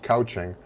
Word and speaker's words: couching: It's pronounced, spelled couching, but it's pronounced couching.